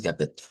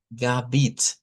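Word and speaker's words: Gebet: Y luego, bet, esa es la sílaba tónica y es con una i. Das, gabet. Aunque dependiendo del dialecto, recuerden que hemos dicho que podemos usarla como i. Entonces puede sonar también como das Gabit.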